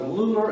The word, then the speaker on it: Lula: They were between the two metropolises of Lular and Homer. They call it Lular, but it's spelled L-U-L-A.